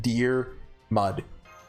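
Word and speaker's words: Diarmuid: mud I'm pretty sure his name is literally just pronounced deer mud I'm not the one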